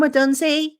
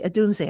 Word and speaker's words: Odunze: Why am I going with, it's actually Odunze, I think is how you pronounce the name.